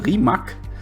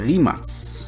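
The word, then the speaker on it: Rimac: Yeah, by the way, many people think it's a Remak. I thought the same. But it's a Remuts. Based, on how they are pronouncing it.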